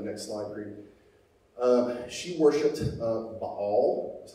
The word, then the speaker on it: Baal: She worshipped Baal, that's how you pronounce it, and Asherah.